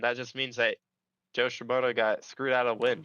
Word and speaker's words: Shimoda: And it was at the expense of Joe Shimona, I think is how you say his name. Joe Shimoda. Shimoda, who followed the rules in a red blinking light situation.